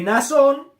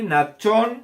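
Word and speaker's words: Nachshon: de liberalidad, hermana de Nazón. Nazón significa encantador, y Nachón se escribe Natshon. Esto es lo que aparece en su Biblia. Ahí en su Biblia aparece así: Nazón. Ya, el nombre es Nachón.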